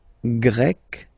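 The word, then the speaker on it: grec: write them but then if you listen carefully gre gre you pronounce them the same way okay Portugal pug portug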